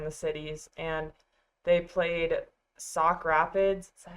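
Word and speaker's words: Sauk Rapids: And then boys basketball, they had their winter breakdown tournament that was somewhere in the cities and they played sock Rapids.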